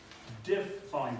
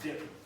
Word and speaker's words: diphthongs: And this word is pronounced diphthongs, not dip. Diphthongs. The PH has an F sound to it, right?